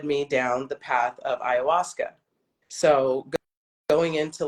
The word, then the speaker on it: ayahuasca: ayahuasca. So it's hold on, let me, because I always spell it wrong. Where did I write it? I thought I wrote it down. Ayahuasca.